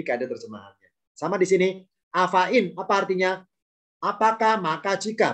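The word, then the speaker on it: أفإين: Afain. Jadi i langsung meloncat nun. Afain. Karena ya-nya nggak ada harakatnya, jangan dibaca di seret panjang.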